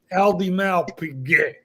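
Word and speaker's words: Audemars Piguet: the trick, which is when speaking French, you must twist your face into the most arrogant, hateful position, and then it will flow. Vacheron et Constantin, Patek Philippe, Aldimar Piguet, and you say it like you're cursing at a homeless bum on the street. That's how that works.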